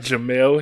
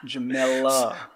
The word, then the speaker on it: Jemele: So, let's pronounce her name right, Jemele Hill. I extend my L's, man. I extend my L's. You know this, right? Jemele.